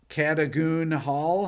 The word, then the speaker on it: Cadogan Hall: November 3rd at Cadogan Hall.